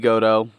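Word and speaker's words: Goto: Mark Briscoe defeating Haruki go toe go Taraki go toe I put the emphasis on the wrong syllable there Trent Barreta and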